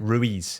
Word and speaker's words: Ruiz: I think that Anthony Joshua potentially after he got knocked out the first time by Louise, is Luiz, is that how you say it? Ruiz.